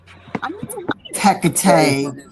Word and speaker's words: Hekate: But anyway, um look, it's Hecate. Hekate. It just to be in my book. Hekate. We did say it right. Yeah, that's how we were saying it.